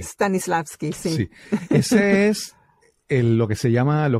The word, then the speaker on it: Stanislavski: Nikki, mencionaste que estudiaste, perdón, a ver si lo pronuncio bien, Stanislavski. Stanislavski, sí.